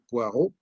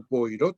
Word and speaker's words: Poirot: Agatha Christie incluso ha hecho populares, conocidos, famosos, unos personajes suyos como el detective Poirot o Poirot, como se pronuncia en español.